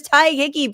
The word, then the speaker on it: Tadhg Hickey: His name is Ty Hickeyi. Please welcome. Hi, Francesca. How's it going? Um it's good. Thank you. You're pronouncing my name so beautifully, man.